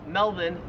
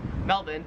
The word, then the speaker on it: Melbourne: it wouldn't matter because the Australian accent just leaves the r off if it's ever in the last syllable of a word so you would pronounce Melbourne Melbourne and you would pronounce Karen's